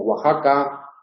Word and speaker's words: Oaxaca: Esa misma X, en palabras de origen náhuatl, y como Oaxaca o como México, se pronuncia como J, aunque se escribe X.